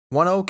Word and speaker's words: ONEOK: That is the correct pronunciation, by the way. I had to look it up. It's because the company that acquired the naming rights pronounces its own name that way. That energy company is indeed named One Oak. That's Oneok. One Oak, it's pronounced, and it's actually been